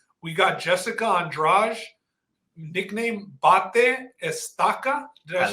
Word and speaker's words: Bate Estaca: We got Jessica Andrade, nickname Bate Estaca. Did I say that right, Justin? Yeah, Bate Estaca.